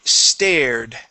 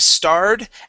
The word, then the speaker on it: stared: Okay, let's go to the word stared. Okay, so instead of starred at the window, it is stared at the window.